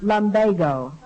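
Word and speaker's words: lumbago: to Chicago Mr SCH that word is pronounced Lambo or they changed it recently they never changed it it's always been pronounced Lambo according to Webster all right but I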